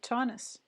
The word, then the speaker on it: Taunus: Ah, it's pronounced like Tauntaun in Star Wars, so Taunus.